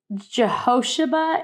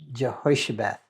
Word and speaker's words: Jehoshaphat: scripture it uh it's i read it as jehoshaba and you say it's pronounced health it's jehoshaphat jehoiaba yeah like i looked it up on